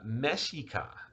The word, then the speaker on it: Mexica: name for them is mexica or me uh mexica if you say it right uh which is where